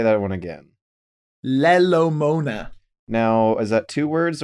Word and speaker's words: Lelo Mona: say that one again lelo mona now is that two words or all one word that's one word and the the second syllable is mona as if someone is moaning yes so it's but